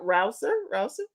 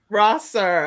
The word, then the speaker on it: Rosser: Okay, so I am excited because we have with us coming up Crystal, and am I saying it right? Rouser? Is that right? Rosser.